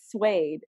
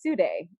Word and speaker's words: suede: is that I saw suede and I instantly thought it would be pronounced sue day so that is like